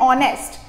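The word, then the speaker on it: honest: लगाना है for example अगर आपका स्पेलिंग है ऑनेस्ट तो ऑनेस्ट बेटा शुरू किससे होता है एच से लेकिन साउंड क्या है ओ का साउंड है यानी ओ वावल का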